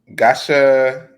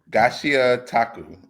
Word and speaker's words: Gachiakuta: You are referring to Gachiakuta, I believe. God, we do. Yeah. All right. So I call it the John with a G. Gachiakuta. I believe that's how you say it.